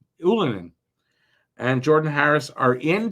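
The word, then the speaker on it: Ylönen: one is right Jessie ilonen um and that's not how it's pronounced anymore anolin and Jordan Harris are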